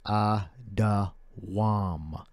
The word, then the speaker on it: Edom: We got the proper way to say Edom is Adawam. That's the only way you say Edom. You don't say Edom any other way. You say Adawam, and Edom means red.